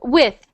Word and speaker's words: with: You would say weef, with.